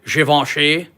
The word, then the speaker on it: Givenchy: I'm not really I have to say it the correct way. Givenchy. I don't know the crass American way to pronounce this is. Givenchy.